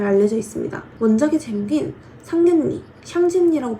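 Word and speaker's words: 想見你: 원작의 재밌긴 상년니 샹진니라고 발음이 되며 이거를 지격을 하면 너를 보고 싶어라는 의미인데요.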